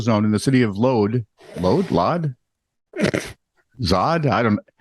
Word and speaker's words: Lod: in an industrial zone in the city of Lod? Zod? I don't know. It's Lod. It's near Tel Aviv. We all know that one. Chris, how do you pronounce the city Lod in Israel?